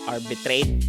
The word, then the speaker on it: arbitrate: So that's what arbitrate means. And let's see how it's pronounced properly with the schwa sound indicated. Just one schwa sound in this word.